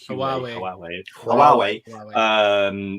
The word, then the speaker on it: Huawei: How do you pronounce it? Huawei.